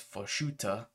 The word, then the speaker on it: Farshuta: In particular, it shows the sacking of Farshuta. I always keep mispronouncing that, but it's Farshuta.